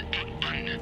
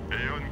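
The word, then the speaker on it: AEON: Non, ça se prononce Eon. Eon comme est ta sœur?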